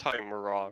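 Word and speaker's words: Tymora: I worship Lady it's pronounced Timura, right?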